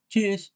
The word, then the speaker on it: Tschüss: তো এখন আপনি যদি এই টি টাকে উচ্চারণ করতে চান তাহলে কিন্তু হচ্ছে না, হ্যাঁ?